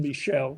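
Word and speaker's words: Michell: The book is actually called, I mentioned it earlier, The Measure of Albion, and he wrote it with John Michel, who I now pronounce correctly.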